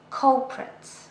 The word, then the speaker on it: culprit: This is a noun and 2 syllables, culprit.